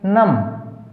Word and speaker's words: numb: NUMB नम, B silent.